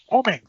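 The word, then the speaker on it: Oeming: Oming. Oming, thank you.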